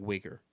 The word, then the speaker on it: Uyghur: china against like the uyghur muslims it's pronounced like weaker but weaker have you seen that [